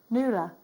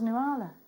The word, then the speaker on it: Nuala: what a gorgeous name nuala Lula nula n-u-a-l-a yeah is that how you say it yeah I thought it was new Arla no wow my my